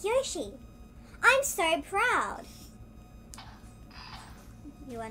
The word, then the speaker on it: Yoshi: go fell off um I've been on geo she like joshie joshie some people say y'all she and show it was one of them but his learning how to pronounce it Yoshi I'm sorry proud you